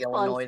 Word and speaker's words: Illinois: Yeah, that's like Illinois. The S is silent.